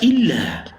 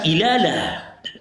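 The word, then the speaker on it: إلا: Lam bertasdid ini akan tetap dibaca illa bukan ilala.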